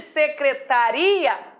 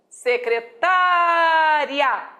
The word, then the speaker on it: secretária: por que sem assento secretaria paroxítona terminada em a oral nunca acentuar mas quando eu falo secretária já sou obrigada a acentuar continua paroxítona mas agora